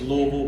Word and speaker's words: Louisville: pronounce that right it's Louisville we don't pronounce the s in there um but it's always